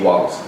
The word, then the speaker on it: Wattles: Now, I always get this guy's name wrong. Can you say it for me just because I... Wallace D. Wattles.